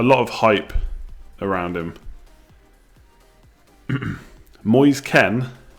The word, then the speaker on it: Moise Kean: Moise Ken, is that right? Moise Keane, pronounced Ken.